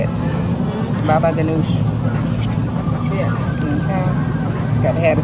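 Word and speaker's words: baba ghanoush: Baba Ganoush.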